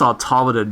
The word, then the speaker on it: Automaton Lung: It's pronounced Automadden, you idiot. Huh? You fucked up the pronunciation. What?